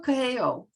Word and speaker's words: Coelho: His name is Pablo Coelho. It's Coehlo.